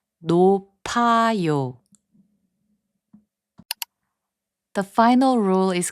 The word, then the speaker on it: 높아요: 높아요, which means high, is pronounced as 높아요.